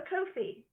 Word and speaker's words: Ko-fi: Over here, as you can see, we have a Ko-fi to rhyme with Lofi.